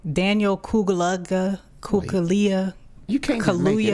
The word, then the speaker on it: Kaluuya: Man, it's Daniel Kaluuya.